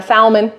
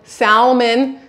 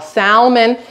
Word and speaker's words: salmon: to De package my salmon salmon cuz some people pronounce the L salmon and put it into